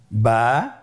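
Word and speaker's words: با: আমাদের স্ক্রিনে চলে এসেছে বা বা হরফটি কিভাবে উচ্চারণ করবেন? বা হরফে টান হবে। এক আলিফ টান।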